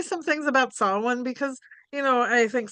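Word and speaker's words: Samhain: So, um sin, which is spelled S A M H A I N. So, it looks like it's pronounced Sam Hayne, but it's Celtic and it's pronounced sin.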